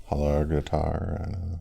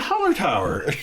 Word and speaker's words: Hallertauer: Hallerg. I don't know. Hallergatar. German. Oh yeah, Hallertauer.